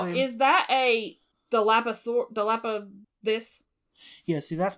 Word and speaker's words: Dilophosaurus: Now, is that a Dilapa this? Yeah, see, that's pronounced spitting ass bitch. How do you say it? Spitting. Dilophosaurus, yeah.